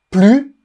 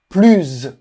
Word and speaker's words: plus: par semaine donc profites-en il y a donc trois manières de prononcer le mot plus plus sans le S ou plus en faisant la liaison on prononce le mot